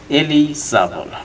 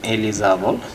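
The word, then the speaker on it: eligible: আর last ওয়ানে viewers দেখতে পাচ্ছেন আপনারা, যেটা শব্দ অর্থ হচ্ছে এলিজাবল, নট সে ইলি, এটা বলবেন এলিজাবল, যোগ্য, উপযুক্ত।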